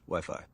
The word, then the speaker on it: Wi-Fi: a wooden our t-shirts pronounced whiffy right dude it's Wi-Fi I'm taking I mean I think it's Wi-Fi are we sure everyone's agreement it's Wi-Fi yeah well I'm gonna keep